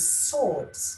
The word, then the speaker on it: surds: Now, the topic for today is swords. Swords. Actually, it rhymes with sword.